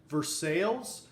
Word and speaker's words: Versailles: the ozarks we have a town pronounced Versailles named after Versailles and France men just north of